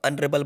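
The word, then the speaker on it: honourable: ही इज एन ऑनरेबल leader, H silent है, इसलिए यहाँ पे इसको ऑनरेबल बोला जाएगा, तो बी वाला बिल्कुल करेक्ट है।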